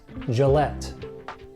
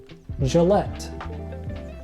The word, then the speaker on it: Gillette: Folgers and next a shaving company and you pronounce this Gillette Gillette Gillette I hope you like this video be sure